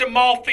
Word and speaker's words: Amalfi: It's pronounced Amalfi.